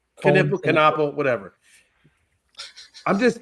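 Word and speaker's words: Knueppel: It's Knippel. Knappel, whatever.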